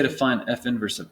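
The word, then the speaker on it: f⁻¹: f inverse of x we don't wanna say f to the minus one that's not how you say it it's f inverse of x okay so let's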